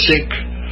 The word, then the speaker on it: Sikh: say I've heard it both ways I'm a seek or I'm a sick uh but uh since again people start snickering if you call it the sick religion I'll just go with my preferred pronunciation anyway seeks these are